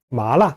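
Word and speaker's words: 麻辣: 떨어져 썸 이렇게 얘기해요 나 말아 말아 이렇게 하는데요 아 알라 라고 발음해야 됩니다 말라 라는 하나의 기억해 주시고요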